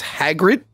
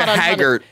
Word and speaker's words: Hagrid: as Hagrid mhm yeah I I like that you say it right but your spelling in your notes my my phone kept auto correcting to hagger no it's not even like mik hagger oh hagard like he's like hagard I gave up